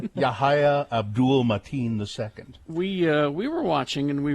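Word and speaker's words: Yahya Abdul-Mateen II: Yahya, I believe it's Yahya Abdul Mateen II. Yes. I would give him an award just for that name. Yahya Abdul Mateen II.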